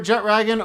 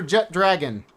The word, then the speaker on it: Jetragon: I prefer Jetragon over Jet Dragon, because the name literally has Jet and Ragon combined.